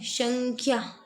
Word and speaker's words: संख्या: लिखा जाता है और इसका उच्चारण संस्कृत में इस प्रकार होता है संख्या इसके बाद है क्रश